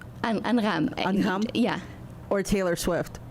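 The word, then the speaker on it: أنغام: I don't know how to pronounce her name properly. Angam? Angham.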